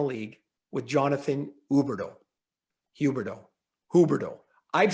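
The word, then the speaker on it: Huberdeau: all up so it's huberdo how's that in french like only richard the h is silent yes so well i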